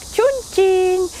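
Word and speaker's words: 重庆: До того, как мы попали сюда, мы даже не знали, как читается этот город, потому что на английском это что-то вроде Чонкуин. Можете посмотреть, как оно пишется. Поэтому мы были в замешательстве, и уже местные сказали, что он произносится как Чунцин по-китайски, но по-русски это Чунцин.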